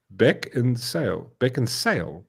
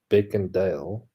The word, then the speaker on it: Beckinsale: Are you saying it right? What do you mean? Beckinsdale? A surname. Beckinsale. Beckinsale, yeah. It's not Beckendale.